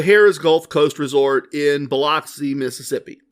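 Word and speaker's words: Biloxi: or as I learned while we were there, Beluxa, Mississippi. Fascinating the way places decide to pronounce the names of where they are, and it doesn't match the spelling at all. At least not the spelling and pronunciation the way I was taught it in uh in elementary school.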